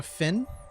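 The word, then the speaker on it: phin: I I got a fin I don't think that's pronounce it p h i n it's a Vietnamese like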